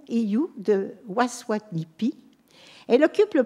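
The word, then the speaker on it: Eeyou: Joanne Otarais, à côté de Viviane, est une Iyu, on m'a dit la prononciation, Iyu de Waswanipi.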